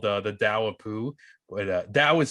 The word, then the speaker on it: Tao: too called the the dao poo that was spelled t-a-o-i or like taoism yeah yeah pronounce like a d but it's a t and um once in